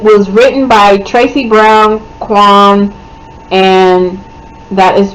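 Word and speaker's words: K'wan: uh post was Flirt by um Tracy Brown Quan and Angel Mitchell okay so uh that yeah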